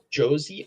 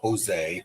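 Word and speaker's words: José: Josie Aldo. He brought it over from the WEC. Josie? Is that how you say it, actually? Mm-hmm. Yeah. It's not Jose.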